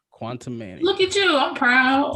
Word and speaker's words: Quantumania: How do you pronounce that? Quantumania? Quantumania.